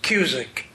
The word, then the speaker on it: Cusick: tonight or not, but my last name rhymes with music. It is Cusick.